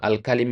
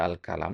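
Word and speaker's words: الكلم: Nah, alkalim itu tadi antum baca alkalam ya. Kalau alkalam itu ada alif di sini ya. Nah, alkalam panjang. Nah, kalau seperti ini bacanya alkalim dia jamak dari kata kalimah ya.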